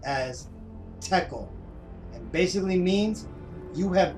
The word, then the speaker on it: tekel: single word in the ancient Hebrew language that's pronounced as tekel, and basically means you have been weighed in the scales and found deficient.